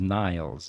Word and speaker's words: Nils: and his name was Niles, and he was from Norway. And but anyway, it was Nils, and his was the long version of that pronunciation.